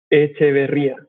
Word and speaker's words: Echeverria: How do you pronounce it? Echeverria.